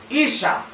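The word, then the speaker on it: Isha: Porque el mismo idioma, hermano, hebreo, que Adán se pronuncia, ese mismo idioma hebreo, para mencionar el nombre de Eva, se pronuncia Isa.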